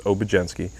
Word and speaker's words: Obiedzenski: be a surprise but the d and z is pronounced as the j so it's obgenski but a lot of